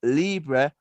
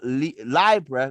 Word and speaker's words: Libra: Listen, he said, the correct pronunciation is Libra, not Libra, not Libra. Remember to go to a library where they bear that in a library or a Libra, a library.